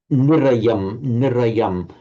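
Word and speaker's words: nirayaṃ: Also this nirayam. You part of the middle, this middle you're tending to kind of ignore, but although it's short, it's a short but nevertheless it is very distinctive.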